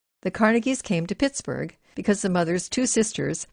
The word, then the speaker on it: Pittsburgh: Then the sound of the name was good, and to this day Andrew Carnegie spells the final syllable B-U-R-H and pronounces it with a loving oatmeal brrr.